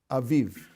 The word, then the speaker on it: aviv: What is the Hebrew word for spring, which is a small kind of summer? Aviv. Av, aviv. By doubling the second syllable, you make something smaller.